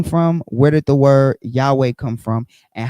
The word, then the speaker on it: Yahweh: um likely pronounced Yahweh based on lingu linguistic and historical clues. We're going to get into that. Jehovah, right, is a medieval hybrid of the YHWH plus Adoni vows.